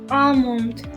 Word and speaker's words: almond: we don't say it almond there you are ammon so the l again ignore it cobble covered so notice